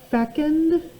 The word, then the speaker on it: fecund: Number 6 is pronounced fecund, fruitful, fertile.